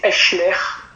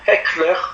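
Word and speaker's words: Hechler: Et il s'appelle William Henry, alors nous on dit en français Eschler, mais un ami pasteur hollandais m'a dit non, il faut dire Heckler, mais je ne sais pas trop le prononcer.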